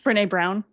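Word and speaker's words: Brené Brown: Brene Brown.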